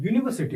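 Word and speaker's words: university: तो एक्चुअल में जो इसका सही उच्चारण होता है उसमें यह वाई के साथ शुरू होता है। यूनिवर्सिटी वाई के साथ लिखा है।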